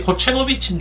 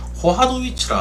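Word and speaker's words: Kochanowicz: 저는이 코체노비치인 줄 알았는데 어제 그 캐스터가 발음하는 거 보니까 코하노위치라 하더라고. C가 무음인가 봐.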